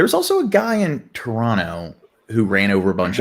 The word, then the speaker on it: Toronto: There was also a guy in Toronto who ran over a bunch of It's people. pronounced Trana. Toronto? Toronto. Toronto.